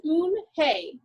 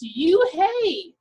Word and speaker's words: Unhei: chanted no no corrected it's spelled u-n-h-e-i it's pronounced oon hey oh it's you hey the boy said like you hey what about